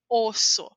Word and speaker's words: osso: nós falamos dessa pronúncia quando você encontra dois s pronúncia normal do espanhol como osso mas não pense que